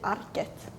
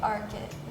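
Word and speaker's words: Arket: I was right AR in Sweden we say aret in America we would say arit in Denmark I don't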